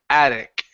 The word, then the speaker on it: attic: one here is attic here you said at okay so end on this K this hard k sound so it's attic attic attic there you go one